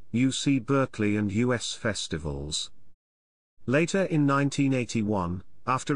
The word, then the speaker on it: US: seoul which sponsored two u.s festivals with u.s pronounced like the pronoun not as initials initially intended to celebrate